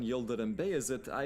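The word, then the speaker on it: Yıldırım Bayezid: And speaking of Sultan Yildirim Beyazıt, I should say that my pronunciations have been cleared by my very Turkish college roommate Emre, so I'm doing my best here.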